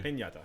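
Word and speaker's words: piñata: pinata so it's a pinata how do you say that okay it's got a y in it thank you pinata our our quarter mexican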